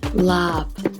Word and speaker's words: laab: на меня посмотрела на глупые сказала пальцы говорят la общем если произносить правильно полное название блюда будет лапкой что